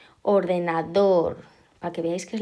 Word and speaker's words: ordenador: Luego tenemos ordenador, pues ala, también en la última, pues es aguda.